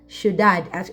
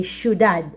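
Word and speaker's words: ciudad: a city which is sudad actually this is from Spanish language thead and we spell it like this we say sudad okay just like sh all right now at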